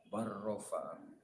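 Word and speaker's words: بل رفعه: Bal rofa'ahu, cara bacanya bar rofa'ahu.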